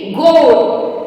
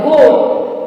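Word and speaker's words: goat: ए आई N rail ji ओ ए टी गोड यानी कि इसमें ए का साउंड जो है वो साइलेंट हो जाएगा और ओ का साउंड लंग हो जाएगा गोड तो ये था स्पेशल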